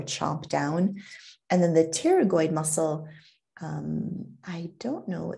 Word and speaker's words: pterygoid: mass masseter and the pterygoid so this p is silent and it's called a pterygoid muscle so the temporalis muscle